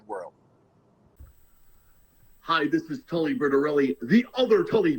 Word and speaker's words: Bertorelli: I always get Bertinelli or Briscoli or Squipoli or Bertoli, and I'm like, thank God someone pronounced it correctly. It is Tully Bertorelli.